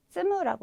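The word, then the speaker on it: 積む: 발음은 쓰무라고 읽으시면 되겠죠.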